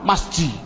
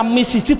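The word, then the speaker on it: مسجد: Adapun depan ada tulisan mim sim jim dal, bacanya apa? Masjid. Mengapa kok dibaca masjid? Mbok dibaca misjid saja.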